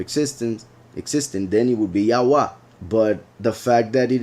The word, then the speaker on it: Yahweh: and I will pronounce, like, it will be closer to the Spanish pronunciation of the vowels, just in case. Yahweh. Yahweh.